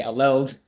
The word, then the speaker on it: ALELD: Some people say ALED, some people say ALELD.